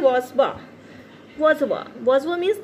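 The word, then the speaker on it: bourgeois: और ये जो वर्ड है इसकी स्पेलिंग कुछ है, इसका प्रोनंसिएशन कुछ है, तो इसको हम बोलते हैं वाजवा.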